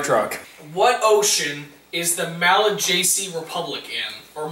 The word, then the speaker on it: Malagasy: What ocean is the Malagasy Republic in, or Malagasy? It's spelled M-A-L-A-G-A-S-Y.